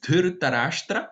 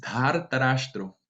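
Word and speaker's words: Dhārtarāṣṭra: No es Dhar Tarashtra, es Dhar Tarashtro. Ese grado aumentado de la vocal en la primera sílaba es característico de esta lengua sánscrita para referirse al hijo de tal personaje.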